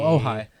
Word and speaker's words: Ojai: board I have and I don't know how to pronounce it Ojai oh oh hi oh hi stream in